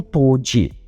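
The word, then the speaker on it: 唐手: para o karatê, e os caracteres chineses na palavra nem mesmo eram pronunciados por eles como karatê, mas sim como toji, vindo a se tornar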